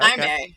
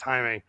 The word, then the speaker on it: Jaime: Hi, May. Hi, May. Hi, May. Am I Oh, see, I'm saying it wrong, too. Yeah, of course. Of course, it's Haime, right?